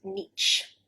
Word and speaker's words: niche: confusion with the spelling some English people might pronounce it nich nich with a CH sound it's not it is nich with a sh at the end finally number 10 and